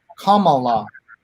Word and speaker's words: Kamala: out, it should be Kamala, as in the punctuation mark. Deepa, any insights into this? I think she has weighed in on this before, but if she calls herself Kamala, we should respect what